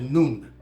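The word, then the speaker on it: نون: the nun nuu n you can even spell it n o o n it doesn't matter as long as you pronounce it like what you call the sun when it's 12:00 High Noon it's the letter N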